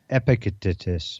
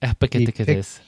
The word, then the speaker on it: Epictetus: I don't know how to pronounce that person's name. Epictetus. Epictetus. Epictetus.